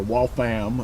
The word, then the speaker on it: Waltham: Riding a lot of the back roads between Waltham and or Waltham, as they pronounce it there. They pronounce everything strange. Waltham. Why would you pronounce it Waltham? Like it's ham.